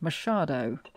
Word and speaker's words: Machado: And I'm reliably informed by Google Translate that it is pronounced Machado, and not Machado, not Machado, Machado, okay. Any of those. Machado.